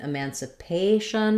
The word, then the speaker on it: emancipation: about Juneteenth and emancipation in emancipation it follows the rule of all words ending with Shun that they're stressed on this the syllable before Sean so the in emancipation or stressed on pay it sounds like it pay Sean so if you think